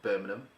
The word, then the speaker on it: Birmingham: Our producer will let us know, but it is a local mosque in Birmingham, and that's how you pronounce it, Birmingham.